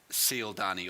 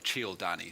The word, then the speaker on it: Cialdini: the Psychology of Persuasion, which is by Robert Cialdini, or Cialdini, some people pronounce it.